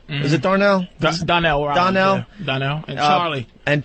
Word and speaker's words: Donnell: I went to see Bill Burr, Darnell. Is it Darnell? Donnell.